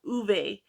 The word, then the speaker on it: Ove: and I don't think anybody I've heard anybody pronounce it right so it's a man called uve um by Frederick Bachman and this is going